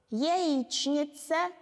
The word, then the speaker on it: яичница: Яичница, яичница.